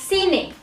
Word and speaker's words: cine: is masculine and it's seen it okay so seen it it sounds like cinema yes it is thin